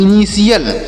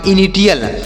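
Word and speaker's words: initial: ल, तो से पढ़ेंगे इनिशियल। इसे इनिशियल पढ़ा जाएगा, ना कि इनिटियल। इसे इनिटियल नहीं पढ़ेंगे, यहाँ पर टी का उच्चारण स होगा, ना कि टा होगा, ध्यान दीजिएगा। तो इसे पढ़ेंगे इनिशियल।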